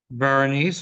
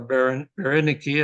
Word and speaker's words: Berenike: His daughter was put in charge, his oldest daughter, going back to the family tree, Berenice or Berenike, as they would have pronounced it, the 4th there.